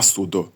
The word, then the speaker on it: судо: як дехто читає тепер дивний наголос чому на судо а не на суд тому що це слово суд це слово є так званий екліномен Тобто це слово яке не має власного наголосу і тому наголос падає на прив'язані до нього прийменники таких слів енкліноменів було